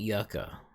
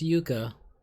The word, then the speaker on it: Yuka: repronounced it as yucca it ain't yucca pretty sure it's yuka that's how you introduced it to me and it's spelled y u k a that's y u k a yuka anyway